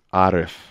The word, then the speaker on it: Arif: behind your name my name is actually pronounced Arif it is Arabic it is you know